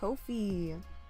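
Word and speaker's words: Ko-fi: even more confused wait is the O pronounced like oh or ah that's my question to you because sometimes always pronounced like oh okay no feet Kofi oh my God copy love it oh my gosh I got it guys it's Kofi I'm gonna get a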